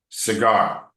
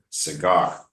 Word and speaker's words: cigar: Cigar. Cigar. Yeah. So this one, the emphasis is on the second syllable. Cigar. Like that.